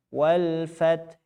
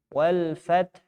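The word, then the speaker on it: الفتح: Ada juga yang bisa dengan raum. Wal fath. Ada hu-nya. Raum. Wal fath. Ada hu-nya tapi tidak sempurna satu harakat.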